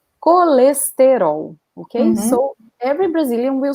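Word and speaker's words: colesterol: in portuguese we say coalestero okay so every brazilian will say like this cholesterol you can pronounce like colestero if you are from real but notice that the vowels are really emphasized but if an european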